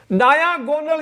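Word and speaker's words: diagonal: डायागोनल याद रखना उच्चारण, डायागोनल, डायागोनल, या अगर देशी भाषा में गोनल, डायागोनल मीन्स विकर्ण हो गया, विकर्ण की लंबाई।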